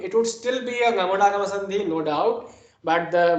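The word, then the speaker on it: ङमुडागम: Ngamudagama. Kakha, gaga, nga. This is the Ngamudagama. Ngamudagama. It is written quite similarly. See, you see this dot. If you miss the dot, you would pronounce it as Damudagama.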